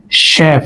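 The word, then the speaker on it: chef: সাধারণত এটা হচ্ছে ফ্রেঞ্চ থেকে আসা শব্দগুলা যেমন শেফ সি এইচইশফ মে সিন না মেশিন উচ্চারণ হয়েছে স তাহলে এগুলো হচ্ছে গ্রিক থেকে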